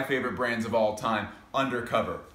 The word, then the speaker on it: UNDERCOVER: brands of all time undercover which if pronounced correctly is actually pronounced under cover we're going to be